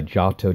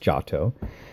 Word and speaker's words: Giotto: and child enthroned by giato de bondone first of all it's pronounced jato and second of all